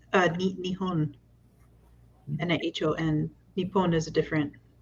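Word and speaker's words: 日本: So the Japanese names for Japan are both Nippon and Nihon. I didn't know that either. I've been learning like when you get your language learning for the week and it says that Japan is pronounced Nihon in Japanese, I don't question it.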